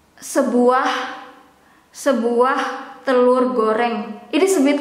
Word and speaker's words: telur: That is the formal way to pronounce it and also to write it with U here. But in daily conversation or casual, we sometimes, including myself, pronounce it as telur.